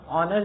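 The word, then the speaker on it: honour: ठीक, क्योंकि जो यहाँ पे एच है वो अनप्रोनाउंस्ड है, वो एक साइलेंट लेटर है।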